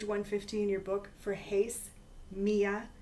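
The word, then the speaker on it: μία: one in the nominative Mia is how you say it in the feminine in the nominative and hen is how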